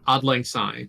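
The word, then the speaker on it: Auld Lang Syne: to pronounce this it's I believe it's Scottish is it Scottish I thought it was German isn't it oddling it's Scottish oddling oddling sign yeah yeah the uh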